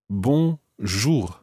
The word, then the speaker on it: bonjour: literally means good day bon jour one not bad at all ina what we need to try and make sure is that that second syllable sounds very much like jewel jewel watch the vowel sound